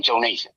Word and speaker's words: Jonas: But that's the correct pronunciation of my name. Jonas.